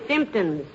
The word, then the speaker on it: symptoms: The word is symptoms, dearie, with the emphasis on the first syllable.